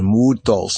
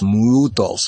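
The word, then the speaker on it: μῦθος: saw that muos so in the Greek the u sound turns into a y sound I want you to note that right so not only does the the letter change but there's a certain pronunciation mutos mutos mutos mutos what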